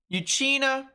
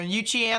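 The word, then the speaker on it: Euchee Anna: live near DeFuniak Springs uchina or uchiana I should say missed like a syllable a syllable well oh my goodness a syllable or two and then Ponce de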